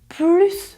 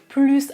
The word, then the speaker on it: plus: Dans le mot négatif, il n'y a pas de S, donc dans une phrase où l'adverbe plus a un sens négatif, vous ne prononcez pas le S.